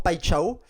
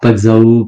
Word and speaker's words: Paixão: non, du coup, on dit pas Igor Paxao, pas Paxao, etc. Ça se dit pas Chao. Paixao. Le X, Paixão. tu le prononces ch dans le côté portugais, enfin, ouais, brésilien, portugais, c'est pareil.